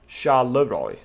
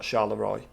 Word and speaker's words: Charleroi: how you pronounce it charleroi not sharla roy oh i don't know yeah charleroi that's that's it that's it through to brussels so